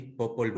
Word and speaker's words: Popol: ¿Lo pronunció bien? Sí, sí, popol.